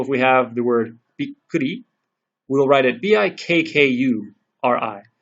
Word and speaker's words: びっくり: So, for example, if we have the word bikkuri, we'll write it bikkuri. So this double K represents this little pause right here.